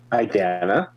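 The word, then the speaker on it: Idanha: Idana.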